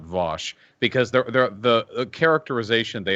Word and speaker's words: Vaush: people call me vaush i don't know why it's v-a-u-s-h in in english that's always vosh that's f that's how it's pronounced like 98 percent of the time i don't know how